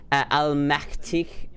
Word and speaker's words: allmächtig: Sie ist die allmächtig Königin alles.